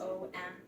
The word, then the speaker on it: Om: with chanting the sound it's commonly written as om but it actually has three syllables a bounce all three